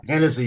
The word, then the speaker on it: Hennessy: They There's There's one uh how do you say it? Hyensi or Hennessy or whatever? His hennessy. Yeah, Hennessy. There you go.